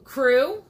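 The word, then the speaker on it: Krewe: So in New Orleans, when you have a Mardi Gras group that parades, it is called a Krew. Krew, which is spelled with a K.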